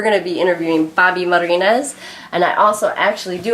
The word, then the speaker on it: Marinez: Did I say it right? Marinez, yeah. Marinez. Sounds more exotic when you roll the R's.